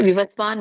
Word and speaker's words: ವಿವಸ್ವಾನ್: ತವಾನ್ ಅಹಂ ಅವ್ಯಯಂ ಓಕೆ ವಿವಸ್ವಾನ್ ಮನವೆ ಸ ಕೆ ವತ್ತು ಆ ದೀರ್ಘ ಇರು ಅಂದ್ರೆ ವಿವಸ್ವಾನ್ ಮನವೇ ನ ಕೆ ಮವ